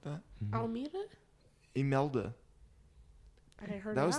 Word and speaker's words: Imelda: Almeida? Imelda. I heard That was the one. name of it, Imelda.